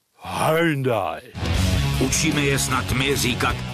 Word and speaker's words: Hyundai: vůz první h i40 celé dlouhé roky to byl v Čechách a na Moravě Hyundai a teď to máme vyslovovat korejsky Hundai učíme je snad My